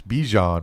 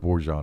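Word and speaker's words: Bijan: BJ BJ robs do it's bjon by the way oh and it rhymes with djon and he has his own mustard but you can go with bjan if you'd like I'm gonna go with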